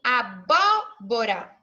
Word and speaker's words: abóbora: lá gente tem o exemplo do abóbora ebó esse primeiro bó nós falamos em mais forte e aí esse bode vai ser antepenúltima sílaba da minha palavra então olhar seria a última o bom Ó penúltimo e esse bom mais forte antepenúltima todas as vezes que